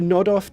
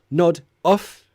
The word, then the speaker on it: nod off: Um it's that connected speech. So nod off. No, don't separate them.